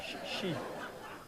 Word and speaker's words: Xi: s'habituer au nouvel humaniste, Xi Jinping. Voilà. Chi. On dit Chi. Xi. Shipping. Ah ben, ben, je parle pas Xi, le mandarin. C'est Chi, couramment.